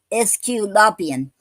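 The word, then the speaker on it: aesculapian: and they spelled on the a is silent in the okay it say SQ SQ lopian it's spelled a e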